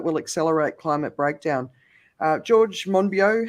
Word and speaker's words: Monbiot: accelerate climate breakdown george monbiot how do you say his name the guardian journalist i never i always say moneybot but it's not it's monbio anyway i thought he